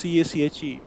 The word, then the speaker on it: cache: Cache is CACHE. It's pronounced as cache, that you should already prefetch some things.